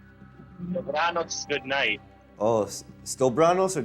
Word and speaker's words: dobranoc: Stobranos? Dobranoc, good night.